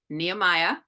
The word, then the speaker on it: Nehemiah: She is the CMO of Nehemiah.